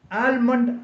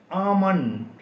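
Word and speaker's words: almond: എഎൽ എം ഒഎൻ ഡി ആൽമണ് എന്ന് നമ്മൾ പലപ്പോഴും ഈ വാക്കിനെ വായിക്കാറുണ്ട് എന്നാൽ ഇത് തെറ്റാണ് ഈ വാക്കിന്റെ ശരിയായ ഉച്ചാരണം ആമണ് ആമണ് എൽ സൈലന്റ് ആണ് എൽ ഉച്ചരിക്കാൻ പാടില്ല എഎം ഒ എൻ ഡി എന്ന രീതിയിൽ ഉച്ചരിക്കണം ആമണ് ഇതുപോലെ മറ്റൊരു വാക്കാണ് എസ്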